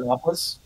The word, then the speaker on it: Rathalos: It's actually Rathalos. I hear that's all the racist is. Official pronunciation, just like Boona Hob.